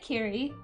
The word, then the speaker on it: Kiri: now I have to say it like Carey because it is there's no reason not to and it's also really cute way of saying it and that's how they say it in the show and in a beanie